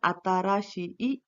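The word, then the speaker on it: 新しい: शी ई आ जाएगा, तो आपको उसका प्रोनाउंसिएशन अताराशी ई ऐसा करना है, उसे ओकुरी गाड़ा कहा जाता है।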